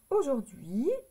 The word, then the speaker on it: aujourd'hui: apostrophe h u I ici on n'entend pas le H aujourd'hui ça c'est un mot